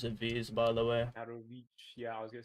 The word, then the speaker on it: Katowice: And that's why I say Katowice. Why you say Katowice? Like the C is like a T in Polish. So Krakow. The W's are V's, by the way. Katowice.